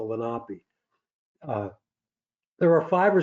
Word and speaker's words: Lenape: the Delaware Indians and it's not the Lenny lenpy it's the lopi uh there are five